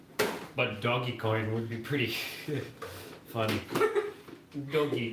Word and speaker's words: Dogecoin: I'm not in Dogecoin, Natasha.